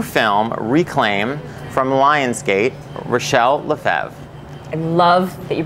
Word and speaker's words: Rachelle Lefevre: of the new film reclaim from Lion's gate relle leev I love that you pronounced it properly thank you thank you this